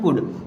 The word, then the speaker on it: could: अब यहाँ पर लिखा है COULD, हो सकता है इसे आप कुल्ड पढ़ें, लेकिन इसे कुल्ड नहीं पढ़ते, इसे पढ़ते हैं कुड, क्योंकि एल होता है यहाँ पर साइलेंट और इसे बोला जाता है कुड।